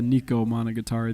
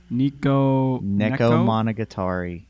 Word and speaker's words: Neko Monogatari: finished Nico Monogatari the other day. Nico, so- why must you butcher everything you pronounce? Neko Monogatari. It's Not Nico, right? Neko Monogatari, or Nico Monogatari, as you would say.